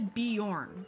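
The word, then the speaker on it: Bjorn: of the high's goodbye the J is a why so it is beorn beorn oh there's a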